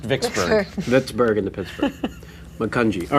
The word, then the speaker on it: Vicksburg: It's pronounced Vicksburg.